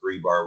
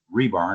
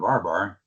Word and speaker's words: RBAR: And yes, it is pronounced rebar with an e and you know it doesn't have an e in it or an a missing name or anything like that.